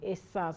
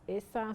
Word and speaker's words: Ishan: The Ishan, some people pronounce it as Ishan, some people say it's the Ishan tribe.